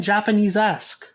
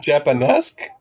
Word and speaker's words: Japanesque: and that is Golden Japanese-esque. You mean Japanesque? Yeah, I wasn't really sure how to pronounce it. It's like Japanesque, Japanese-esque. I think it's Japanesque.